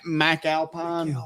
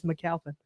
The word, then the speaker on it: McAlpin: McAlpine. No, you said it right. It's McAlpin. But now some people church it up McAlpin.